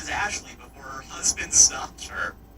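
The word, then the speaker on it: Ashliegh: Pronounced as Ashley before her husband stopped her.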